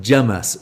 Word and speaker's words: James: It's the Curry House sketch or that came from an English and the the waiter is called James and he is pronounced Jamus.